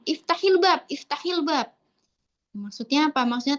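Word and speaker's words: افتح الباب: Nah, ketika seperti ini, pelafalannya itu dikasroh. Kenapa? Dengan tujuan memudahkan pelafalan. Iftahil bab, iftahil bab.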